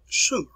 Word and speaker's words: Sumer: 3200 bce in a place which is called sumer and that's the way it's pronounced here the earliest form of writing was